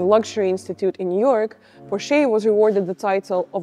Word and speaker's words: Porsche: Sería como Porsche. La E final apenas se escucha. Porsche.